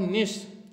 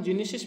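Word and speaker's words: gneiss: ध्यान रखना दोस्तों, ग्रेनाइट और निस, ठीक है, जिसको अपन जीनेसिस भी पढ़ते हैं, लेकिन यहाँ पे जी साइलेंट रहता है।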